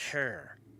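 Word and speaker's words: hir: is the subject and possessive pronoun and is pronounced hair I got trouble saying this maybe it's the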